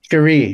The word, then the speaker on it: Sheree: Sher or is it do you say Sheree or Sherry? Sheree. Sheree Curry.